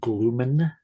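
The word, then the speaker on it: Glühmann: the VOC vocalist uh Marco gloen I do believe is the proper way to say it so I could as always be wrong with my pronunciations um he does a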